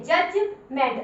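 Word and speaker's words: judgment: अब ये देखिए लेकिन डी को नहीं बोला मैंने, क्यों?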